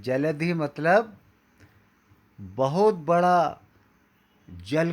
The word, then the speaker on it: जलधि: जलधि, धी नहीं बोल पाते हमारे कई मित्रगण, वो बोलते हैं जलसित रंगा। देखिए कितना गलत हो जाता है। जलधि अलग है, तरंग अलग है। जलधि मतलब बहुत बड़ा जल